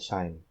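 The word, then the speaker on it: QIIME: Tulisannya QIEME tapi dibacanya Shine ya, jadi QIEME2.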